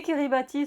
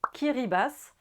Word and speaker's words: Kiribati: Les Kiribati se prononcent en réalité Kiribas.